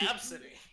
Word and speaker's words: Abcde: what is AB City ABCDE oh yeah that's pronounced absentee yeah okay yeah I